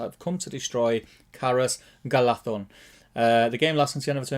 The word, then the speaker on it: Galadhon: Is it DH? DH. DH is then. Galathon.